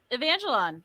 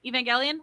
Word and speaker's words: Evangelion: um like the uh the uh neon genesis evangelone virgil evangelion i always say it wrong um from now